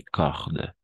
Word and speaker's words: cordes: Des cordes, no prononciamos las últimas dos letras. Il pleut des cordes.